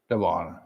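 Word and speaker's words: Devaughn: Pronounce that for me. Devon.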